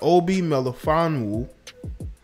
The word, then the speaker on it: Obi Melifonwu: It says the partner of New England Patriots defensive back Obi Melifonwu, that's how you pronounce it, quit her job after co-workers called her unclean in private messages for dating a black man.